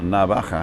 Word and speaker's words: navaja: razor knife or a razor clam so a navajo it's spelt n-a-v-a-j-a can you see that i know